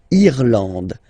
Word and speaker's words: Irlande: Irlande. Irlande. Okay, A-N, en, D, and final E, not pronounced.